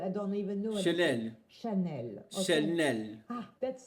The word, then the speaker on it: Chanel: Chanel. And not Chanel. I don't even know. What Chanel.